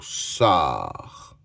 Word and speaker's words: sort: Le 7e mot, c'est le mot sort. Or o r or s o r sort. Et à la fin, il y a une lettre muette, le t.